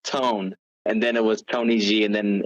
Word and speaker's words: TNYG: So that's what the acronym version of it is, but it is pronounced Tony G.